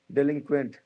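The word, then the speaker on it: delinquent: फिर है डेलिंक्वेंट। डेलिंक्वेंट यानी डिलिक्वेंट इसको प्रोनाउंस किया जाता है। प्रोनाउंसिएशन इसका क्या है? डिलिक्वेंट।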